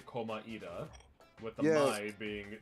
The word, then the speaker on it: Komaeda: If you play the English version, he says Komaeda with a Komaeda. two syllables, while people in Japanese version say Komaeda. So it's Komaeda.